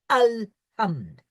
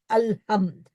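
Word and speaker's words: الحمد: Here, it is a definite article al, Alhamd. And he's requesting that we should remember this, Alhamd, and persuade members of our families and friends in the Jamaat to correct their pronunciation if they are not saying it Alhamd.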